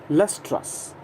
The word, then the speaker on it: lustrous: तो कोई चीज़ अगर शाइनी हो, दैट इज़ एडजेक्टिव में हम बात कर रहे हैं, तो इसके लिए एडजेक्टिव है लस्ट्रस.